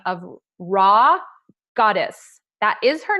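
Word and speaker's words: Rha Goddess: And I had the amazing opportunity to listen to a woman by the name of Raw Goddess. That is her name. It's spelled RHIGODESS.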